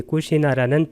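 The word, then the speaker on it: Kusinārā: 이 꾸시나라는 부탁에서 반열반하신 나라입니다. 빨리어로는 꾸시나라, 나를 길게 발음하면 됩니다.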